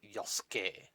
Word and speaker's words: Yasuke: And the pronounce is Yosuke, even though it's spelled with a Y.